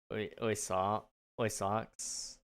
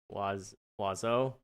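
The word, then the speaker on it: oiseau: Birds in French is oy socks. It's pronounced wazo.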